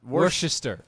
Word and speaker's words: Worcester: How do you pronounce it? Well, Worcestershire. It's Worcester.